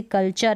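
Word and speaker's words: culture: जैसे कल्चर है, कल्टर नहीं पढ़ेंगे, नेचर है, अब इसको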